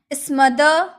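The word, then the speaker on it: smother: इसका सिनोनिम्स होता है असफिक्सिएट स्मदर ड्राउन। इसको स्मदर नहीं बोला जाता है। स्मदर यहां जो र होता है ना लास्ट में जो र होता है ना हम अक्सर उसका उच्चारण कम करते हैं।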